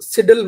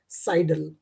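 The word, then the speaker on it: sidle: इसको पहली बात, इसका जो जब आप इसे प्रोनाउंस करें तो ध्यान रखना, इसको सिडल मत बोलना, इसका जो प्रोनाउंसिएशन है वो है साइडल, ठीक है?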